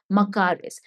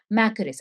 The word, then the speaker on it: makaris: Now, another interesting term that you should keep in mind is makaris. Sometimes called as makaris.